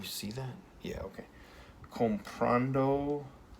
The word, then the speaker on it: comprando: Comprando, comprando lo. Now, our voice goes up on comprando, goes up on this A right here, and when you add